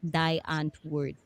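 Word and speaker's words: Die Antwoord: pronounce their name because they pronounce it like die ant word, they aunt would. So they would tell you like no, D as in like this, and aunt Yes. as in like CUNT. And I like that.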